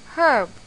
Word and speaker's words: herb: is and why because H in the word herb is a silent letter we do not pronounce herb we say it as